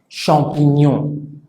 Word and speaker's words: champignon: ejemplo, en la palabra champignon. Champignon. Entonces, ño. GN hace el sonido ñ.